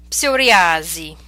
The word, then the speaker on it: psoriasi: Okay, so these are words we're familiar with, but in English we do not pronounce the P, whereas in Italian you must pronounce it. Let's practice them. Psicologia, psicologo, psichiatria, psicosi, psoriasi.